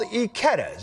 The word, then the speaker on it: Ikeda's: It's called Ikeda's, and it's pronounced exactly like the name of our colleague and friend Emily Ikeda.